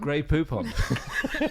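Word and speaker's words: Grey Poupon: call it gray Poupon gray Poupon to rhyme with coupons um have you not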